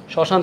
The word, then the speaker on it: শ্মশান: শ্মশান থেকে ঘুরে আসি শ্মশানের উচ্চারণ যদি আপনি দেখেন তাহলে আপনি দেখবেন এখানে একটা শ্মশান এখানে চন্দ্রবিন্দু রয়েছে এর উচ্চারণে চন্দ্রবিন্দু থাকা মানে কি চন্দ্রবিন্দু থাকা মানেই হচ্ছে সেটা কি নাকিস্বরে হওয়া নাসিক্য হওয়া সেই যে অ এর মত